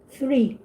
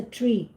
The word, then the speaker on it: three: my pronunciations yeah you have to work your pronunciations yeah and there were also that i heard like when you say three three with a t h three and you say